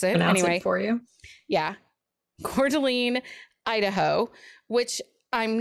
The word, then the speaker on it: Coeur d'Alene: it i actually googled it and had them pronounce it anyway for you yeah coeur d'alene idaho which i'm not sure i would classify